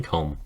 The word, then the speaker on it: comb: a good resolution for getting rid of that stupid silent b in comb maybe one day i